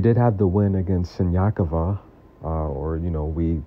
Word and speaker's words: Siniakova: And she did have the win against Siniakova, or, you know, we pronounce it Sinakova if you're from the Western part of the world.